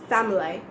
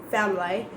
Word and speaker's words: family: some of them so words like family so drop the i syllable and just family family or like deafy rant